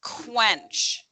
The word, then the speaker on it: quench: so number three is quench quench so q the q sounds like a k so q u is um is like k u so quench finch